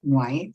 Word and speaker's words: Whyte: of an i and people who still don't pronounce it white they'll say why they and just go back